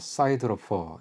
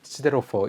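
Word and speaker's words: siderophore: 미국식으로 발음하면요, 사이드로퍼 이렇게 발음하는 거고, 영국식으로 하면 시데로퍼 이렇게 발음을 하는 이제 이런 게 있대요.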